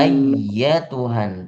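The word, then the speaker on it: أيتها: ya ayatuhan nafsul mutmainnah ayyatuhan tasydid di atas ya ditekan ayyatuhan nafsul ya ayyuhan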